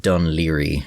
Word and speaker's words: Dún Laoghaire: By the way, this is pronounced Dunleary.